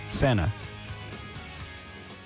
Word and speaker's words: Senna: Senna.